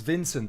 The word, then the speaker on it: Vincent: Lindsey, I haven't even asked you how to pronounce. Okay, so it's Vincent.